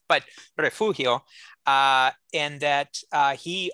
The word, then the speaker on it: Refugio: urrea uh in refugio i'm aware most people pronounce it refurio but refugio uh and that uh he of course later